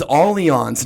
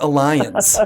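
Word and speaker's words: Allianz: do a lot of work i knew you pronounced it jeremy it is all eons not alliance just for the record and we are piranha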